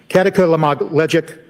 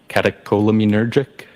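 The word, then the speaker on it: catecholaminergic: Um, katakamagleic tacocardia. I probably butchered that up. Does that ring a bell? Uh, catacolaminergic. Thank you. Yes.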